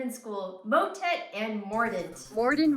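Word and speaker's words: mordent: school motet and mordant Morden rhymes with discordance and motet is one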